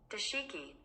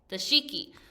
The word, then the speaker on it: dashiki: uh oh my volume's down one more time dashiki dashiki so say that you're reading the book and you don't know how to pronounce a word like this word here CU